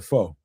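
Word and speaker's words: phở: A fa a fo a fur, however you pronounce that. A ramen. Uh, you know, it was a foe. Fo, there we go.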